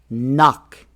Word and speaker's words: knock: Rule number 2 is the K is silent in KN words. For example, we don't say knife. We say knife. The K is not pronounced. Knee. No. Knowledge. Knock.